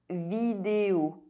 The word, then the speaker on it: vidéo: O is pronounced O when at the end of a word. Vidéo.